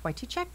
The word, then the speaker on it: Wytychak: in the studio I have with me Mike Whitey Che that's correct pronounce it correctly Che you got it right